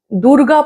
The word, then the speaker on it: দুর্গা: আচ্ছা, এই পুজো বলতে মনে পড়লো, দুর্গা পুজো। আমি দুর্গা পুজো বলি, এটা নিয়ে আমাকে অনেকে কমেন্টে লিখেওছে। একজন তো বলেছে দুর্গ বলবেন না, দুর্গা বলুন।